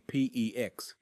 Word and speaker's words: PEX: all pipe materials, including PEX, which rhymes with flex, and CPVC, pronounced CPVC.